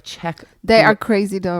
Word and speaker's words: Czech: How do you Czech? That country. Czech. See, Czech Republic. I always want to put in the like Z. Yeah, so Czech. It's like Czech.